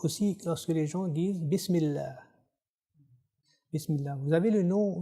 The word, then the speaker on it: Bismillah: On ne le prononce pas d'une façon épaisse, on dit Bismillah.